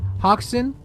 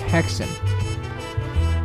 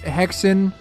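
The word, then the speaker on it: Häxan: Hawken, Witchcraft Through the Ages, directed by Benjamin Christensen. Pretty good. Watch Hawken: Witchcraft through the Ages directed by Benjamin Christensen. Oh, it's it's pronounced Hexon. Um, watch Hexon, Witchcraft Through the Ages, directed by Benjamin Christensen,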